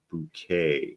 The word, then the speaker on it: Bucket: It's not bucket. It's bouquet. It's pronounced bouquet.